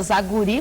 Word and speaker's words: Zagury: E para conversar sobre esse assunto, continua conosco a mestra em educação, Tânia Zaguri, conforme ela me corrigiu, a ênfase na última sílaba, e agora também a